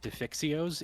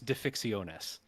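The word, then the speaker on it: defixiones: tough part is that it's a Greek word so the plural is not defixio's it's defixionus oh really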